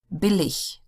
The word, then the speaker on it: billig: Words ending in IG are pronounced like the German word ich. So it almost sounds like as if they were spelled ICH, but it's not. It's IG. Billig, 20, langweilig.